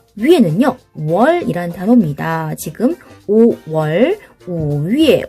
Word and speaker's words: 月: 위에라고 발음하죠. 위에. 그런데 앞에 성모, 자음이 없잖아요. 그럴 땐 어떻게 한다고 그랬어요? 그쵸? 이렇게 Y를 붙여. 그리고 점을 떼고 이렇게 표기를 하는 거예요. 이렇게. 그래서 발음은 위에 이렇게 발음을 합니다.